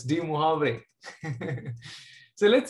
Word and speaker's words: Moivre: The pronunciation is Moivre. It's a French word.